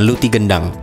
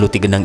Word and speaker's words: Luti gendang: dalam proses produksi pembuatan Luti gendang ini sebenarnya nama asli kuliner ini adalah roti rendang namun dalam pelafalan orang-orang Melayu selalu menyebut huruf r dengan pelafalan yang samar sehingga lama-kelamaan menjadi Lucky gendang tepung yang memiliki inti